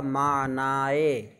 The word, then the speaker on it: معنی: حمزہ بڑھایا جائے اور اس کو یا کی طرح تلفظ کیا جائے تو ہوگا معنی، معنی، جو بھی یا مقصورہ